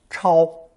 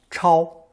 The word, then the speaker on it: 超: This character is pronounced first tone, 超, 超, and at one time meant to jump up in response to being summoned.